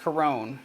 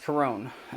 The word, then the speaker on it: Chiron: me on that but i know it's a greek name and it's an older name and it's properly pronounced corone anyways uh the reason